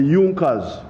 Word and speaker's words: Junker: it had the big farmers known as the youngers it's written in junkers but it's pronounced as junkers in the german kingdom of